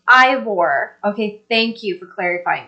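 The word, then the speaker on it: Eivør: definitely do that okay Steve thank you it's pronounced Ivor okay thank you for clarifying that she's from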